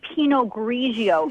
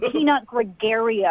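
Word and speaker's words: Pinot Grigio: You don't even know how to say penog grigio, not peanut gregario.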